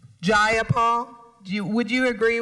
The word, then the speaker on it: Jayapal: you agree with miss jayapal that there was no takeover it was just jayapal if you're going to say my name please say it right it's jayapal jayapal do you would you